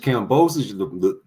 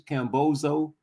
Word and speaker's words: Kambosos: Talking about he had a great performance against Kambosos, the guy y'all mispronounced his name on purpose, Cambozo.